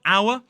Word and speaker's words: hour: Also, there are some words that have a silent H, like honest, honourable, and hour.